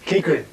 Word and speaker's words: Keighron: How's his surname pronounced? Keighron. Keighron.